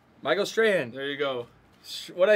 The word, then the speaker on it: Strahan: Michael Strahan. There you go. What did I say yesterday? Strong or something?